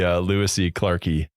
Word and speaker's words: lewisi clarkii: I I loved the lewisi clarkii. Like Is that how you say it? Or is it a long I? that works. Lewisi clarkii. Yeah.